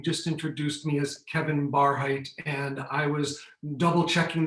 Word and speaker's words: Barhydt: beginning and you just introduced me as kevin barheit and i was double checking the pronunciation smitha and i was saying it's you know it's great that we have names my name is kevin barhat my name is also and i